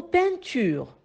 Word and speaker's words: peinture: vous avez le mot peinture le mot peinture est composé de trois syllabes pin creux on entend le 101 dans la première syllabe pain et le 101 été créé avec les lettres e i n donc le 101